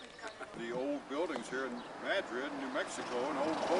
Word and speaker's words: Madrid: Spelled like Madrid, but pronounced Madrid.